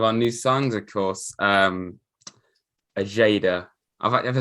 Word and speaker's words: Ojeda: Ajada. Have I said it right? I hope I have. It's Ajada. I think the Paraguayan Tricky Tree did confirm it's pronounced Brian Ojeda.